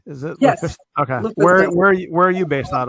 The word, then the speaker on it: LuFisto: All right, and LuFisto, am I pronouncing that correctly? Is it? Yes. LuFisto? Okay. LuFisto.